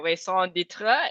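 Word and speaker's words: raison d'être: my ikigai or in french it is my song ditra is it right that i pronounce it right um yes so uh i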